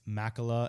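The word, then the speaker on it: Mäkelä: We learned it's Makala and Antilla.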